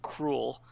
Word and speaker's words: K. Rool: I mean, technically, if you want to pronounce his name how they were probably going, you should just call him Cruel.